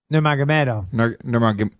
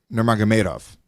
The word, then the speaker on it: Nurmagomedov: Nurmagomedov. Nurmagomedov. Khabib Nurmagomedov. That's a lot. It's very simple, Lewis. He better be a fucking world champion with a name like that. Nurmagomedov, and here's my American accent, you little fuckwit.